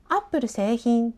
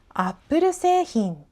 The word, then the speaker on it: Apple製品: でもそれをくっつけて 1 つの単語にした場合は Apple 製品じゃなくて Apple 製品になります。